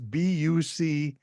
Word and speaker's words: Bucegi: First of all, Bucegi has a very strange spelling. It's Bucegi, the Bucegi Mountains. I wouldn't have pronounced it that way.